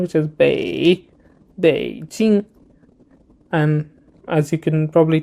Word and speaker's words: Beijing: So this is Bei Jing. So this one is third tone, which is a bit, you need to reduce your pitch quite low and, do like a U-shaped sound, which is Beijing.